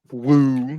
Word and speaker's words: WEAUXX: I put up just a random video on my TikTok at Woo, WEAUXX, Woo. That's how you say it.